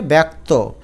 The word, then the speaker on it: ব্যক্ত: ব্যক্ত। শুধু এখানে জফলা আছে। তোমাকে জফলা আকার দিয়ে এটাকে এর মত উচ্চারণ করতে হবে।